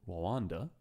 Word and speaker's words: Rwanda: In May 2007, the government of Rwanda, I think you're not meant to pronounce the R too hard, so I'm just kind of sitting back on that one.